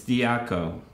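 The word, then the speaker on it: διώκω: at greek but i i looked up the pronunciation here it's diaco and this word sometimes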